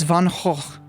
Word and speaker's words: Van Gogh: Van Gogh's name, but you guys are also mispronouncing his name. It's Van Gogh, but I'm just going to stick with Van Gogh.